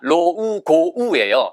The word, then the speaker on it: logo: 이거 로고가 아니라 로우고우예요.